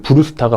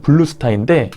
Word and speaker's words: 블루스타: 다들 이야기 많이 들어보신 그 브루스타가 바로 이 제품에서 유래가 된 거예요. 원래의 명칭은 블루스타인데 일본 사람들이 발음을 브루스타 하다 보니까 우리나라도 이렇게 넘어와서 브루스타가 된 거죠.